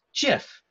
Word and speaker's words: GIF: standard formats now the gif stands for graphics interchange format sometimes it's pronounced jiff I usually say gif but some people say jiff it doesn't really matter